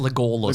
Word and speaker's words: Legolas: It's pronounced Legolas.